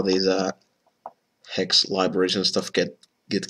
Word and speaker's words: Haxe: It's kind of weird how these uh hex libraries and stuff get get called these weird weird names. Like I I don't really know why h axe gets pronounced hex, but that's the official pronunciation guide.